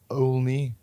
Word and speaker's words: Olney: Yeah, UK itself, England, a little town called Olney. But it's pronounced Oni, like pony.